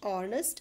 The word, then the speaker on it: honest: abdul kalam was dash honest man article rahala um honest animal name what is the predominant sound that is coming in the beginning oh i need h is silent okay so on any